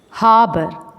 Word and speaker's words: harbor: Massive, flip, flung, miraculously, harbor, bustling, crew, overjoyed, profit, gems. Massive, flip, flung, miraculously, harbor. When we pronounce the word harbor, letter R is silent.